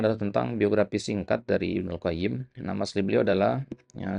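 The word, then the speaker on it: ابن القيم: Kalau dikata ya nama itu antum sebutkan aljauziyahnya maka antum katakan Ibnu Qayyim tanpa alif lam. Ya, tapi kalau ya pakai alif lam maka antum katakan Ibnul Qayyim.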